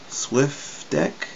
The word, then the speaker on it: SWFDEC: there's a uh sliff Swift deck I think they pronounce it even though it's s